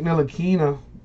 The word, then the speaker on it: Ntilikina: Frank Ntilikina, the T is silent on that.